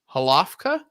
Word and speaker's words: Hlavka: My name is Leighton Radner, and I am joined here by Hlavka.